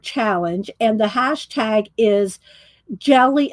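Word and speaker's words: GLY: and the hashtag is jelly it's well it's pronounced it's because of July that he's doing it g ly for jelly plated G ly postcard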